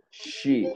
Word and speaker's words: she: She. Se escribe con E, pero se pronuncia con I.